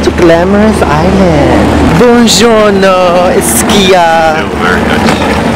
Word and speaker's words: buongiorno: Buongiorno, Ischia.